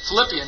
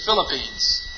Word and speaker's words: Philippines: what I want to say Philippian healers but I know that's not right the country the Philippines that's right see when you get